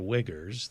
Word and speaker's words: Uyghurs: Yeah, but I mean, when you look at what China is doing in Tibet, and it's pronounced the Uyghurs, they're the Muslims who live in Western China.